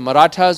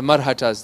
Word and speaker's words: Marathas: subcontinent, which is called either the Marathas or the Marhatas. They're pronounced both ways, the Marathas.